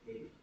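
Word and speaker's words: Katy: The name Katie. K-A-T-Y. I think the stress would be on the first syllable.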